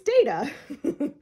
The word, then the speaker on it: Data: first table read um Patrick Stewart said data because that's the British way of pronouncing it and they basically went oh I like that let's call them data instead of data and so it's stuck